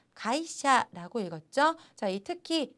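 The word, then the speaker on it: 会社: 배웠던 한짝을 복습을 해 볼게요 회사라는 것은 요 가이샤 라고 읽었죠 자의 특히 2 회 그리고 사이 각각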